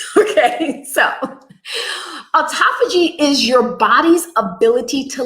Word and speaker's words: autophagy: Sometimes you hear it pronounced autophagy, tomatoes, I pronounce it autophagy. Okay, so autophagy is your body's ability to literally detoxify and renew itself.